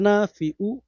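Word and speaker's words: نافع: এসকে লক্ষ্য করুন, ইয়া আল্লাহু ইয়া নাফিউ, খেয়াল করুন, ইয়া নাফিউ, হামজা উচ্চারণ করবেন না।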